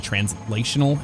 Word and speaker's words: translational: gonna be bad well when i say that i'm not saying transitional i'm saying translational but i pronounce it like translational or transitional like real fast when i'm speaking but it's actually translational if you really want to nail that pronunciation okay let's pull this